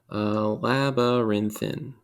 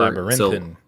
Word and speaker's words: labyrinthine: How would it be pronounced? Labyrinthine. Or Labyrinthine.